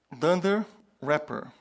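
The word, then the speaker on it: dunder repr: two methods than their so and when we pronounce this dunder wrapper okay so then there is the double underscore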